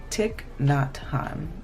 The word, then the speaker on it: Thich Nhat Hanh: Thich Nhat," oh my gosh, I always say his name wrong. Thich Nhat Hanh.